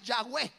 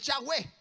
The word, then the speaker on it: Yahweh: En el escrito original es Yahweh. Escuche bien, es Yahweh.